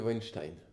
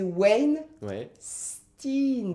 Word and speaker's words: Weinstein: qui est cette personne hervé weinstein med ali c'était plus proche de ta première impression c'est wayne tine de toute façon est